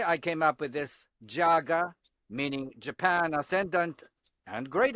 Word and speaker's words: JAGA: I came up with this four-letter word, JAGA, to rhyme with MAGA.